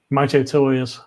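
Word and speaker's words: Mitutoyo: I use these more than anything, which is why I have the Mito Toyos.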